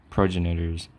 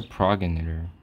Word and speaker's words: progenitor: that there is a lot about your prognators progenitors you do not understand what's a progenator hold on let me let me let me